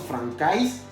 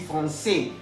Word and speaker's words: français: Ya habíamos visto hace unos minutos atrás que la AI se pronuncia E. Entonces no diremos francais, vamos a decir français. A saber lo siguiente también, que la S final no se puede pronunciar.